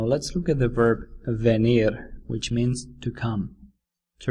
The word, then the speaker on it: venir: home to be near be near sounds like venir the Spanish verb for